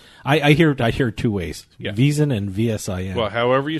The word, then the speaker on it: VSIN: I don't say out the whole VSIN. It's VSIN. I say VSIN. You can say VSIN. I think they say VSIN too because I listen to them all the time.